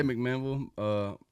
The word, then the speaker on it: McMinnville: I say McMinnville.